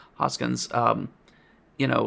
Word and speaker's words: Hoskins: much as I love Bob hodkin uh I'm saying his name wrong Hoskins um you know like